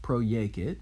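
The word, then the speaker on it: proiecit: in al tom folsom say project it through itself pro-yakit notice the pro prefix and the yay kit from yakio threw itself say into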